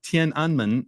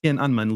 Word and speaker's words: Tiananmen: mean just educate me on like what was tenan square and am I even pronouncing it right all about yeah not quite right but it's okay as good as Americans are going to do Tien anman is the proper pronunciation Tien anman literally means